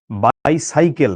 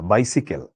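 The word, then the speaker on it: bicycle: আচ্ছা হ্যাঁ, এটা শুদ্ধ উচ্চারণ কিন্তু বাইসাইকেল না, বাইসিকেল।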